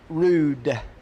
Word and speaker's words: Roode: Smith here says that Joe's last name is pronounced Jules rude so I'm going to take Stuart's word for it and I'm gonna go with Joe J I was doing rug it's rude okay Jules Roode I could